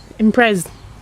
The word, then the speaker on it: Impreza: Melissa, how would you pronounce that? Impreza.